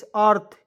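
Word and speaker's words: earth: ए आर टी एच अर्थ ई ए आर टी एच क्या पढ़ेंगे अर्थ पढ़ेंगे ई को इसमें साइलेंट कर लीजिएगा ए आर टी एच को अर्थ पढ़ लीजिएगा क्लियर अर्थ मीस होता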